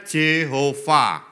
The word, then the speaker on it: Jehova: ya ngomong j h V h itu memang bacanya Jehova tapi huruf verbalnya a j itu e-nya gak